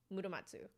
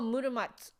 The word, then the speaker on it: Muramatsu: Oh, Muramatsu. Yeah, that's true. Because the zu is often just pronounced tsu.